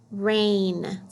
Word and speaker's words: reign: making an a sound don't forget when you see GM that G is silent all you hear is that ooh let's read this word rain when somebody is in